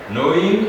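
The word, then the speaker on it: gnawing: items simply meaning that the g is not pronounced when we say that word then we have no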